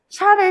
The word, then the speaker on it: 샤를: 샤를 10세. 발음 세게 하면 안 된다.